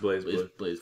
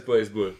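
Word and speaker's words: BlazBlue: z e it's BL a z i it's pronounced blaz BL it actually is did you have you been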